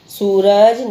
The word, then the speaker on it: सूरज: फिर है सूरज निकला, अब ये सापे कौन सी मात्रा है, बड़े ऊ की मात्रा है, सू ऐसे खींच के बोल रहे हैं ना हम, सूरज निकला, यह मेरा ग्रह है, ग्रह मीन्स घर है।